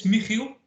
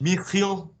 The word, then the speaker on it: Michiel: Okay, so it's Michiel, but it's a little hard to pronounce for non-Dutch speakers. Michiel?